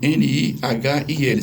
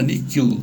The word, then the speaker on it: nihil: A palavra níquel, N-I-H-I-L, significa nada. Daí vem filosofia, o nihilismo, né? A redução ao nada e tal. Se eu quiser falar a pronúncia romana, níquel, o H lá no meio, pronuncia K.